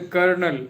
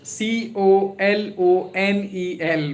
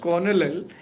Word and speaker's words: colonel: The spelling is that is c o l o n e l. But maybe somebody can pronounce it as a colonal but it is not conal. It is kernel.